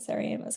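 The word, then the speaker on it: seriemas: because I said Sariamas because I said it the right way. That's how you say it correctly. That's how you say it. Yes, absolutely. Yes. Some people don't say it that way. Some people don't say it that way. They are wrong. They're wrong.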